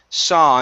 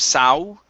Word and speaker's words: saw: last one here is saw instead of sow okay remove that ooh sound at the end so so okay all right so you're still pronouncing an ow at the end leave your mouth open it's only an ah sound so that's it okay